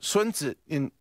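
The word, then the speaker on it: 孫子: Sun Tzu right or swen sit-in as it's pronounced in Chinese the art of war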